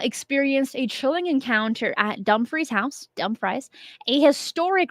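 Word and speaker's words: Dumfries: a chilling encounter at Dum Frey's house but dumphrey is spelled like dumb fry and now you cannot unse it could spell duu m and then fries like french fries so Camila experienced a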